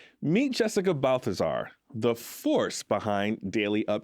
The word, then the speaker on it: Balthazar: Meet Jessica Balthazar, the force behind Daily Up Juice, where culture, entrepreneurship, faith, and hustle all come together in a bottle. Jessica Balthazar. Yes. Balthazar, did I pronounce it correctly? Balthazar.